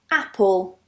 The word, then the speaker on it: apple: For example, apple, apple.